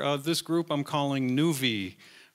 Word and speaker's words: nuV: this group I'm calling nvie rhymes with groovy and uh if you